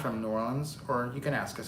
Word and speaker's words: New Orleans: they they live in new orleans okay new orleans new orleans no they told us before it was like nollens yeah i think that's how you say it i can't say